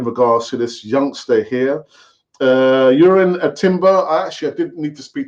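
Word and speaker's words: Jurriën Timber: Urin Timber.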